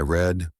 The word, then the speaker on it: read: Same spelling, different pronunciation. Today I read. Yesterday I read. Like the color.